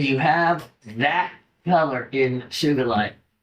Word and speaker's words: Sugilite: When you have that color in Sugilite. And it is with a hard G. It was Kenichi Sugi, not Suji. So it's not Sugilite.